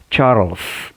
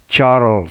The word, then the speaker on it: Charles: a charros o que la e no se pronuncia sino l y s charles primero así es charles primero charo no charles porque generalmente en español a él